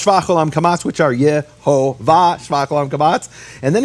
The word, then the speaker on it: Yehovah: And it says, concerning the tetragrammaton, its vowels received from Sinai are shvach olam kamatz. There's no room for Yahweh here. It's Yehovah, according to these rabbis.